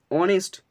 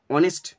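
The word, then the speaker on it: honest: মতো হলে এ বসে, কিন্তু এর উচ্চারণটা হচ্ছে অনেস্ট, অনেস্ট, তাহলে অ এর মতো হয়েছে, তাই এখানে বসলো অ্যান।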